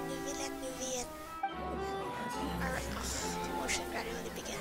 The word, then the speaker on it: Neuvillette: Both Vautrin and Carol are Neuvillette's most trusted subordinates.